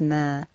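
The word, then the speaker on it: ما: dash linked to a vertical line and it's pronounced as mer please remember what this looks like and look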